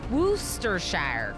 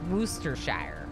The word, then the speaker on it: Worcestershire: Worcestershire, correct. Yeah, that's how you say it. I'm pretty sure. Worcestershire.